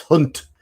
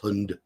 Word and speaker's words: Hund: It's Hunt. The D is pronounced T. Hunt. It's not pronounced Hund. It's written Hund.